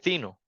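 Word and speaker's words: Theano: de tensorflow a otro que se llama eh zino Así se escribe eh ceano okay e básicamente son dos backends que antes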